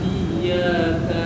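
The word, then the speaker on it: إياك: Iyyaka na'budu wa iyyaka nasta'in. Iyyaka ainnya agak ditekan ya.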